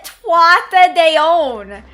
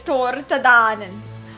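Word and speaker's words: Tuatha Dé Danann: They call it Tuatha de On. I'm like, that is not how you say it. It is Tortadanen.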